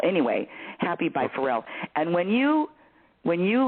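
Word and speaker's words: Pharrell: uh search Happy by farel Williams and his name his first name is spelled with uh pH forel p h a a r r e l l anyway happy by forel and when you when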